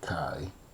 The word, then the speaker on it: chi: So we have a Greek letter, looks like an X, it's a fancy X, and that's the Greek letter chi. So that's how it's pronounced.